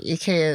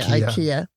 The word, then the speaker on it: IKEA: oh by the way eeka is the European way of saying here I guess people say Ikea we say it wrong in the states yeah we do but